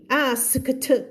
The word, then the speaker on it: asked: Paul asked gently เห็นไหม เมื่อกี้แล้วนะ cluster มาอีกแล้วนะคำนี้นะ ASKT asked ไม่ไหวตัด K ทิ้ง asked จบ so Paul asked